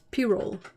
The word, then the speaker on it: Pyrrole: It's Pyrrole.